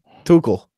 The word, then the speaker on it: Tuchel: The next manager could be someone like this former Dortmund guy who I can never pronounce his name. What's it? What is it again? Tuchel. No. Tuchel.